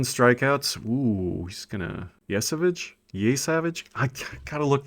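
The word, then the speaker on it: Trey Yesavage: Ooh, he's going to Yesavage? Yesavage? I got to look that up. Here I go. I just looked it up. It's pronounced Trey You Savage.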